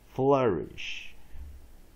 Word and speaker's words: flourish: I-S-H, weak vowel, I, digraph, S-H.Ish, flourish, flourish, flourish.